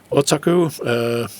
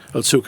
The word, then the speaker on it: Otsuka: Honestly, again, the guy who plays Boss Otsuka, I'm pronouncing that name wrong again. Otsuka, excuse me.